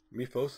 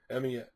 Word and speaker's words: Mephisto: It was just, again, Mephos, as I call him. I call him wrong. I know people say, you said it wrong. Mephisto, whatever. Mephisto.